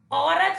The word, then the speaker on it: औरत: बच्चों, औरत शब्द में ओ के स्थान पर हम प्रयोग करते हैं औ का, उससे एक नया शब्द बनता है जो कि शुद्ध शब्द है, औरत।